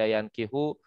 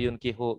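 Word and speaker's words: ينكح: Nah, kalau begini kan ketulisannya nggak jelas, boleh yunkihu, boleh yankihu gitu ya.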